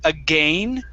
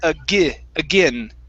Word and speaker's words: again: Now, this is going to be a short I sound. Instead of again with an A, it's again. Again.